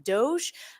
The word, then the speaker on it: DOGE: do by the way it's not Doge everyone says Doge because that's how it looks like it should read but it's government efficiency which is a hard G not a soft G so it really is dog I'm just saying it's